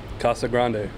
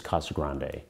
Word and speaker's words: Casa Grande: in the town but the town is named after the ruins and it's pronounced with the Spanish accent museum director michael Shirota